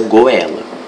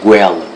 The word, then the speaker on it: goela: pascoa quadrado Sagi guela essa palavra você não pronuncia goela você pronuncia guela e a regra acentua-se